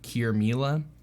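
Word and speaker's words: Qirmilah: to my name but it's spelled very different yeah it's like q-i-r-m-i-l-a-h cure mila um but yeah she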